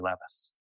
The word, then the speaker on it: Levis: And if have you ever read the poet Larry Levvice? Know Larry Levvice? I don't you gotta read Larry Levis. He's kind of one of my influences. His last name is spelled like Levis's and he is